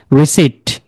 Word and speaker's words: receipt: রিসিট সঙ্গে একটা পি থাকে, RECEIPT, রিসিট। ওকে, দেন receipt, psychotic, psychotic, psychotherapy, psychiatry, psychiatry.